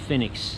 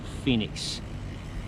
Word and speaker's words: Phenix: I understand it's pronounced Phenix, not Phoenix, and you're going to be in for a treat in a second.